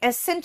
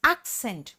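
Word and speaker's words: accent: तो यह एसेंट नहीं है। एक्सेंट एकेंट नहीं है। This is एक्सेंट and pronunciation बोलते हैं।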